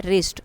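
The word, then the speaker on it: wrist: रिस्ट W silent है।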